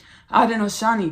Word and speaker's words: Haudenosaunee: I wanted to pronounce their name correctly. Haudenosaunee, because babe, when I get to channeling, sometimes, baby, I start pronouncing things incorrectly.